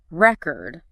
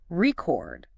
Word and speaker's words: record: Think about record, the noun, versus record, the verb. Totally different.